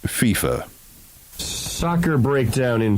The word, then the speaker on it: FIFA: of international soccer outfit FFA uh Gary it's pronounced FIFA soccer breakdown in 3 2 1 FIFA soccer's